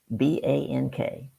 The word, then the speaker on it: BANK: new way it's called B an K looks like bank it's pronounced like Bank but it's an acronym for four different styles